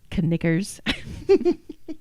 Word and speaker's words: knickers: Knickers. That's right. When they're fancy, you pronounce the K.